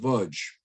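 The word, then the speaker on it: Łódź: gates of a ghetto the lodge ghetto pronounced budge this is where my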